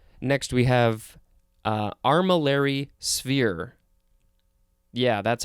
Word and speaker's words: armillary sphere: a few all right next we have uh armillary sphere yeah that's how it's pronounced it is two words it is a